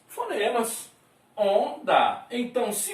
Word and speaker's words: onda: Mas, né, se você for transcrever essa palavra foneticamente aqui, você vai pegar o ON, esse O com tio, ON, depois DA. Temos 1, 2, 3, 4 letras e teríamos o quê? 3 fonemas. Onda.